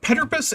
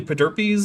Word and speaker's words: Pederpes: Petterpus is not right, but it's about as close as they've gotten, and it's fine by me. Good job, guys. You read every letter, and you gave them all reasonable pronunciations. So as far as I'm concerned, that's a win for you guys. It's like the first one, but like, yeah, it's usually Pederpes in English, but like, whatever.